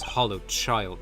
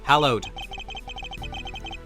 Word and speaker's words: hallowed: The fact that the auction took place right here in this hollow child chamber is a point of suspicion. Hallowed. That's how it's pronounced.